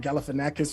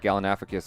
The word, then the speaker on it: Galifianakis: you're chewing tell but you could say zach galifianakis and just have no problems i've been messing